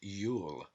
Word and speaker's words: Iul: One of these names for Jew is Iul, pronounced Yule.